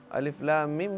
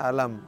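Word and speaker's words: الم: Baca alif lam mim, dia nggak tahu caranya bacanya. Baca alam, gimana nih alam katanya, alif lam mim, alama katanya, alam apaan? Ya, nggak bisa begitu bacanya.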